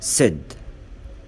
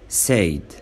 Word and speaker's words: said: Exceptions. ركز بقى في نطق الكلمات دي لان الكلمات دي ليها نطق خاص. احنا بنقول said ما ينفعش نقول said. says ما قولش says. again ما قولش again.